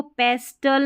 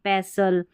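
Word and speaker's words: pestle: फिर इसको पेस्टल नहीं पैसल।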